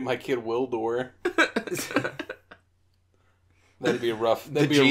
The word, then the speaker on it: Gwildor: I'm gonna name my kid Wildor. That'd be a rough. That'd the be G a rough, is silent. The G is silent.